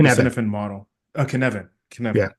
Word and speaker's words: Cynefin: I only know of Dave from his the Cinefin. Is that how you say it? The Kinevin. Cinefin model. Kenevin, Yeah. Kenevin. I keep saying That's Welsh. something. It's very hard to say.